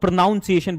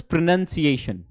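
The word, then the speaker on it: pronunciation: हम जो देहाती लोग हैं ना हमारी सबसे बड़ी प्रॉब्लम जो है ना वो इसको कुछ लोग प्रोनाउंसिएशन बोलते होंगे। This is प्रोनंसिएशन।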